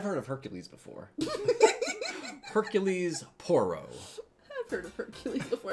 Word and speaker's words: Poirot: How many Poirots do you know?